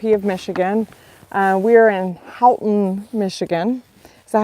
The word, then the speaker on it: Houghton: We are in Houghton, Michigan.